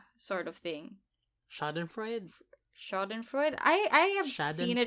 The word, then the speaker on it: Schadenfreude: research on this and I found the correct pronunciation. It's this one. Schadenfreude.